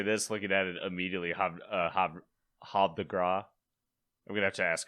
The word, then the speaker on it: Havre de Grace: Okay, so Havre de Grace. Okay, so the H is silent.